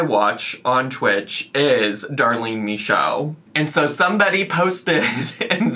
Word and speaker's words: Michaud: Twitch, which is Darlene Michaud. Her name doesn't look like it's pronounced that way. I have heard her pronounce her name, and that's how it's pronounced.